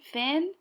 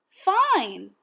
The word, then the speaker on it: fine: say that's right I this word isn't Finn it's ina fine like I'm feeling fine remember that II does not make a sound at the end now it'll be your